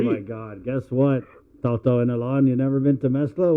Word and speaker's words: Inalahan: Inalahan. From Inalahan.